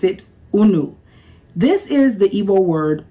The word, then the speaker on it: unu: We have a very very popular word that we use and we pronounce it unu.